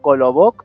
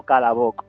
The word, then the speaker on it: Kolobok: la pronunciación, Kolobok o Kalabok, porque lo he encontrado de las dos maneras. Verás, es que en ruso muchas palabras que se escriben con O en alguna parte acaban pronunciándose con casi una A.